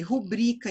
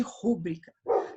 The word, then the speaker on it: rubrica: F, rubrica em vez de rúbrica. Sílaba tônica é o bri e ela é uma palavra paroxítona.